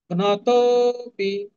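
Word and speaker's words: ঘ্নতোঽপি: ঘ্নতোপি, তোর পরে অবগ্রহ চিহ্ন, কোনো উচ্চারণ নেই।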